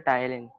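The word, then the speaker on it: ptyalin: हां इसका एक और नाम होता है सलाइवरी एमाइलेज का, सर पी साइलेंट होता है, फिर टाइलिन।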